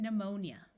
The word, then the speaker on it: pneumonia: type of flying dinosaur words starting with PN also have a silent P like in pneumatic E uses U and pneumonia there are words with